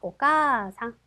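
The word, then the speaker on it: お母さん: 카 뒤에 아가 왔네요. 그래서 어떻게 아 발음은 음은 들락말락. 그래서 오까상 하시면 되겠고요.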